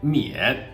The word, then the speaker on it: 沔: 然眼妈眼免，它的读音同免费的免。